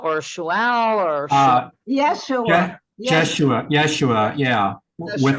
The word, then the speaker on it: Yeshua: Yeshua, yeah. With a, Yeshua. I think it's spelled with a Y.